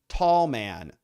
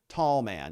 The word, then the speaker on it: Tallman: here by the way you pronounce my last name tall man tall man have a great weekend